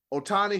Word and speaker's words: Otani: his name I'm G say his name right Otani he still that dude and didn't they give